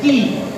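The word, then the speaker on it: quay: Right now the next question is key. The pronunciation is key and the meaning is where ships load or unload.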